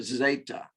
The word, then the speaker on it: zeta: This is the letter zeta. So it sounds a lot like the previous one. No, it doesn't. Sorry, I'm thinking of something else. Zeta.